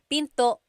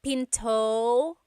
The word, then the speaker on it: pinto: Pinto. And remember, don't forget the glottle stop. Don't forget to stop the sound at the end. That's called a glottle stop. Pinto. It's not Pinto, it's Pinto.